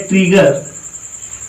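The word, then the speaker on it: trigger: Double जी आएगा तो इसका हमेशा उच्चारण गा ही होगा। किसी भी शब्द में अगर डबल जी आता है तो उसका उच्चारण हमेशा गा करोगे।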